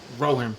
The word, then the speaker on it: Rohan: How would you pronounce that? Rohan. Yeah. Rohan? Yeah. War of Rowan.